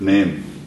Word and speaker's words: name: You're right, name. Okay. If you apply the Fierro sound chart, you have a short sounding A, na, Na-me. Na-me. Okay? They're both short vowels.